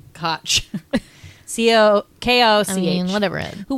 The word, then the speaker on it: Koch: Ed Koch, which is so hard to say because you want to say Coke, but I think he pronounced it Koch.